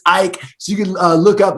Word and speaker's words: Eick: It's spelled Eick. It looks like Ick, but it's Eick.